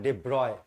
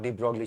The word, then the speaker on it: de Broglie: इसका नाम का एक्चुअल प्रोनंसिएशन है डिब्रॉय। बी आर ओ वाई ब्रॉय। Logic बता किस हिसाब से ब्रॉय बनता है इसको ब्रॉय अगर बनाना